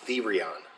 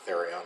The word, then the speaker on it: Therion: Yeah, so they pronounce it Therion, but it's the with a long E, Therion.